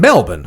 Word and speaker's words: Melbourne: weekend's from October 11 to 13 okay in Melbourne so belaboring I didn't get to go to